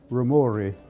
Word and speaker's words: Rumore: everybody calls me rumore Ru m o r e it if it were pronounced correctly it would be rori it's an Italian name I was born October